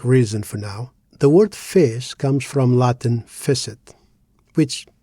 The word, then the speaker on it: fez: So, why does fish sounds like fish and not fash? It's just one syllable. Shouldn't it be open, fash?